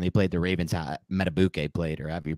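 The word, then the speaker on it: Madubuike: weeks ago when they played the Ravens at metabuke played or have you pronounced that guy's name played the Giants in the Run game Justin matabuki yeah exactly and so now we have this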